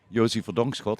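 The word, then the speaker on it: Josy Verdonkschot: Yeah, because it's way easier if I pronounce my name. It's Yosi Vongcott.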